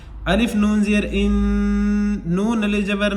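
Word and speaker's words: إِنَّا: अलिफ नून ज़ेर इन, नून अलिफ जबर ना, इन्ना। ये अलिफ जो है इन्ना के बाद जो अलिफ है इसको कहते हैं अलिफ मद्दा। इसको एक अलिफ के बराबर खींचकर पढ़ेंगे, इन्ना।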